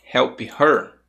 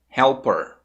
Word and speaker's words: help her: na tela olha só se você falou help her help her tá mais ou menos assim help her você tá pronunciando sons desnecessários por quê Porque em inglês nessa frase aqui escute como ela vai ficar pronunciada helper helper percebeu helper O que que eu fiz aqui eu falei help per dois sons helper Por que que isso